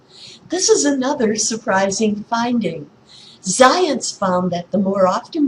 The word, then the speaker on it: Zajonc: Zajonc, pronounced to rhyme with science, but not spelled that way, as you can see,